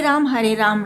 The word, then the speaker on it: राम: बस विदेशियों की तरह हरे रामा हरे कृष्णा मत कहिए, उनको उच्चारण में समस्या है, पर हमें तो नहीं है।